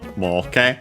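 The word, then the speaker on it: 儲け: so the corresponding noun, moke, accent on the last mora, so yeah, regular from an accented verb.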